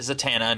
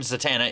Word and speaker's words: Zatanna: Yeah, I pronounce it Zatana, not Zatana.